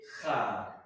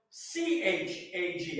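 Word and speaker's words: חג: So what we would say, because there's no English equivalent, K-H, that's how it's spelled in Hebrew.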